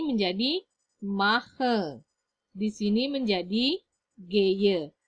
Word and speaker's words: gehe: Di sini menjadi geye. Tulisannya memang gehe, tetapi dibacanya adalah geye.